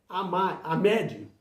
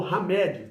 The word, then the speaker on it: Ahmed: mim, cujo nome é Ahmed, né? Ou Hamed, tá? Duas pronúncias está certo.